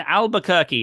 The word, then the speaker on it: Albuquerque: in India Kathleen and Albuquerque I said it right I'm so proud